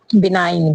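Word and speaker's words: benign: होता है बिने तो बिनाइन से पहले में भी क्या है बी ई एन आई जी एन स्पेलिंग इसकी बहुत ही सिंपल है लेकिन क्या है जी को यहां पे भी साइलेंट रखा गया है नेक्स्ट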